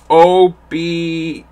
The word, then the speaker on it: Obarun: You mean Obarun? It's Obarun. Obarun. I can't pronounce it, so sorry.